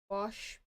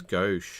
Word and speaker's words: gouache: Well, I personally have not worked with gouache before. I know what it is. But is that how you pronounce it? I thought it was go. No, it's gouache. Gouache.